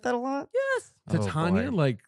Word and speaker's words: Tatiana: Oh, Tatiana, boy.